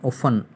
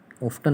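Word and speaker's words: often: है उसी विन्यास में ऑन ऑफ्टन नहीं है ये ऑन है टी साइलेंट होता है पढ़ने में ओ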